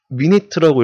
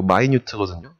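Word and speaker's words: minute: 이거를 미니트라고 읽으면 안 돼요. 이거 마이뉴트거든요.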